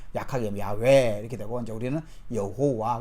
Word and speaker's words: 야훼: 일단 원어상으로는 야훼라는 말이 아주 더 가깝습니다. 야훼 약하게 야훼 이렇게 되고 이제 우리는 여호와.